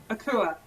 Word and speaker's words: Akua: Akua. Akua. Yeah. So no U, no Akua. No, it's like K-O-O, like Akua. Akua.